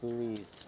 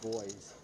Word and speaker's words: buoy: That's just the proper way to say boys. Boys. And then the American accent is say buoy. It's a buoy.